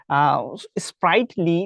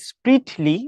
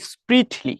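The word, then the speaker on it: sprightly: আছে ঠিক আছে আচ্ছা স্প্রাইটলি না বলে তোমরা স্প্রিটলি বললে কিন্তু সবচাইতে বেটার হবে যদিও অনেকে স্প্রাইট যে আছে ওইটা বলে কিন্তু হবে কিন্তু স্প্রিটলি ঠিক আছে স্প্রিটলি আচ্ছা এবার হিস্ট্রি মানে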